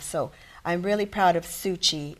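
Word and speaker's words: Tzu Chi: much is enough so i'm really proud of suchi it's spelled t-z-u c-h-i and it's free medical it's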